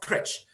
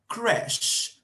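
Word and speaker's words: crèche: often pronounced as sh the ch is often pronounced as sh so you have that word crash not crutch crash crash crash right you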